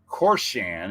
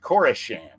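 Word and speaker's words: Koreshan: uh brad and diana told us how to pronounce it right the it's it's not corsan it's kaurashan i believe it's core shams state park about a hundred miles yeah we're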